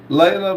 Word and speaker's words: Leela: Her na her name is pronounced Leila but spelled Leela." Leila.